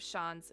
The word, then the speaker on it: Shans: The pronunciations of Shans is the same as Shans, like chance, but with a sh at the start.